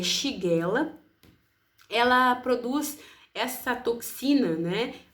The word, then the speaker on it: Shigella: A pronúncia é Shigella.